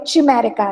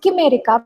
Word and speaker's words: Chimerica: So that way you can call it Chimerica as well. But you can, I think it is actually pronounced Chimerica because it is also related to the idea of chimera, Chimera, which is supposed